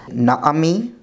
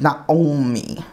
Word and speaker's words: Naomi: from this reading is the name Naomi, which in modern Hebrew would be Naomi or Noami. But here, it would be something like Naomi, Naomi.